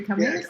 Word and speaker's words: Cummings: Sorry, Cummings.